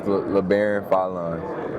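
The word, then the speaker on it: Labaron Philon: Cooper said, I just want to ask, I've heard your name pronounced so many different ways. Can we finally get the correct way? It's LeBaron Fallon.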